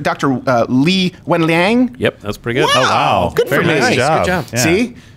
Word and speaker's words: Li Wenliang: Am I pronouncing this right? Dr. Li Wenliang.